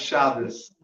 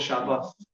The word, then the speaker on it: Shabbos: That's not the Ashkenaz way of pronouncing it. That would be a suf, but the Yemenite way would be a thuf. So it's called Shabbos.